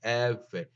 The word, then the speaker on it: Eber: Eber, as you read it from um, left to right, is not the ancient Hebrew pronunciation. This is the Indo-European languages style of pronunciation. It's now read Eber. It's Ever. You read it from right to left, and the B is only by default.